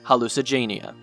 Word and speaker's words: Hallucigenia: Paleozoic Hallucigenia isn't exactly the toughest one to pronounce, considering its name is pretty much hallucinogen and genia combined to make Hallucigenia.